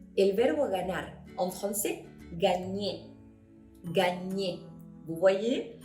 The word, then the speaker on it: gagner: Comme par exemple, el verbo ganar en français, gagner. Gagner. ¿Vous voyez? Si bien no está escrita una ñ, el sonido sí se hace cuando vemos una G con una N, la Y con la N, ¿ok?